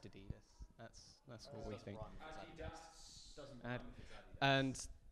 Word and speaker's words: Addidas: with 2 Ds, and it's spelt like that. we have double D. It's A double D. Yeah, you're getting the double D if you like Jesus Wears Ds. Yeah. No, it's Jesus Wears ADDIDS. Pronounced Adidas.